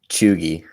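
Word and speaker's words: cheugy: you're ready for the answer what's the answer chugi what what you never would have guessed that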